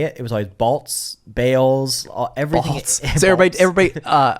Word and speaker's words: Balz: It was always Balz, Bales, everything. Balz. So everybody intentionally pronounced it wrong because they didn't want to say Balz.